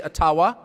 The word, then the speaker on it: Ottawa: taken from you no matter who is in Ottawa or as we say atawa which by the way is the correct pronunciation according to my friends in the ajba